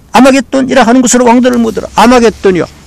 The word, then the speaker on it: 하르마겟돈: 아마겟돈이요. 난 이거 잘 모르지만요. 말 들어보니까, 아마겟돈, 좀 더 정확하게 발음은 하르마겟돈이래요. 하르는 산이라는 뜻이라고 그랬고, 마겟돈은 갓다드의 파생어인데, 갓다드 모으다.